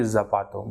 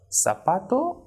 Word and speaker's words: zapato: like sabato or solo it not be zapato but sabato or solo so let's see